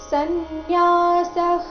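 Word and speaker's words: संन्यासः: ಶ್ರೀ ಭಗವಾನು ವಾಚ ಸನ್ಯಾಸ ಕರ್ಮ योಯೋಗಶ್ಚ ನಿಶ್ರೇಯ ಸಕರಾವು ತಯೋಸ್ತು ಕರ್ಮ ಸನ್ಯಾಸಾತ್ ಕರ್ಮಯೋಗೋ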